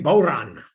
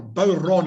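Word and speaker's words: bodhrán: accompany folk music is a bauran or bow ron i think it should probably be pronounced what kind of instrument often used to accompany folk music is a bow run so that's the ten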